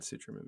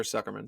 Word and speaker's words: Sucherman: I'm going to show you a different Todd Sucherman video. Or Sucherman, sorry. It's spelled CH, everyone, so I keep saying his name wrong.